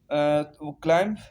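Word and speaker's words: climb: Words with silent B, क्लाइम CLIM, क्लाइम, क्लाइम mean चढ़ना। बी जो है silent.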